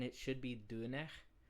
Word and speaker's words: döner: pronunciation, it should be dun. So like the R is more like a Frenchy kind of R. It's more rasped.